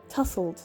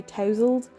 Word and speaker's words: tousled: male romance book and if you're british you say tussled don't you check my pronunciations i know i know americans say tousled but in britain we say tussled don't we anyway let